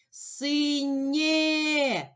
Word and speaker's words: синє: Синє е. Голосний позначаю кружечком. Поділимо слово на склади. Син. У слові синє два склади. Визначимо наголос. Покличемо слово синє. Наголос падає на перший склад.